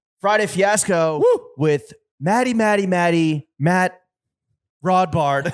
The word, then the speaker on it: Rodbard: Friday Fiasco with Matt Rodbard. Rhymes with raw bar.